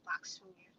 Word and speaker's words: Lakshmi: or Lakshmi, as some of y'all say, but Indian people say Lakshmi. They say it's funny like that. Well, they say it properly, but she's representing that energy.